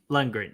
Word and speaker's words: Lundgren: segue drago himself dolph uh how do you pronounce the last name because i always butcher it lundgren lundgren yeah i i mean i that's how i